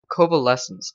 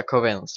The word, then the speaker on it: covalence: and this stuff called covalescence dust, or covalence dust. Yeah, covalence dust. That's it. I always call it convalescence because that's just how I first learned to pronounce it.